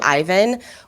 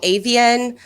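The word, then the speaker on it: Aiven: do the same thing at Ivan where it's a i v e n and people say avian like I hear so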